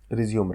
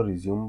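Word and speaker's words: résumé: तो लिखित कम्युनिकेशन के दो पार्ट हैं, एप्लीकेशन राइटिंग और रिज्यूम राइटिंग। एक बार फिर से आपको बता दूं, अमेरिकन इंग्लिश में इसको रिज्यूम बोलते हैं और ब्रिटिश इंग्लिश में इसको रिज्यूमे बोलते हैं।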